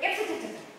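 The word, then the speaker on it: IFTTT: The tool is if, this, then, that. And I pronounce it if-ta-ta-ta.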